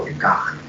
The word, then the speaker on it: Descartes: Cartesius, o también conocido en buen francés como René Descartes, o Descartes, si quieres darle la pronunciación adecuada, ¿no?